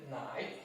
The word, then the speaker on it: 奶: And nai, you see nai, this nai, the right part of nai, this character also pronounces nai.